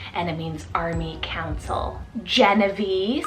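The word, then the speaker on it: Jenavie: find really cool and it means Army Council genevee spell j-e-n-a-v-i-e Genevieve how stunning is that one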